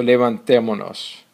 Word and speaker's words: levantémonos: So we also need here an accent over the E to maintain the proper pronunciation of the conjugation. So levantémonos.